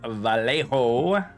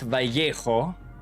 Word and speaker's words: Vallejo: All right, that was Vallejo, not Vallejo. Vallejo, because we can only pronounce it half correct in American English.